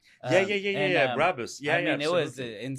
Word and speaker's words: Brabus: It's a Barbus. Yeah, Brabus.